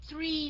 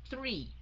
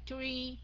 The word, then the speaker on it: three: Okay, la lưỡi ra, thụt lưỡi vô mới đọc là three. Chứ không phải là tree, không phải là re nha, mà là three.